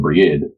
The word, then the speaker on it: Brigid: green tea and Briganti I will be sticking largely to the pronunciation brigade as it is what sounds most corrupt to my year she survives today in